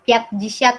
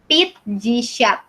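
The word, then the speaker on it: пятьдесят: 50 bukan piat jisyat ya bacanya, jadi pit jisyat.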